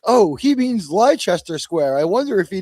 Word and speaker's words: Leicester: we talk about it, we say Leicester to each other. Yeah, that's right. I've actually had Americans say that in front of me on the tube, and I've said, "Hey, let me just tell you how to say that. It's actually Leicester Square."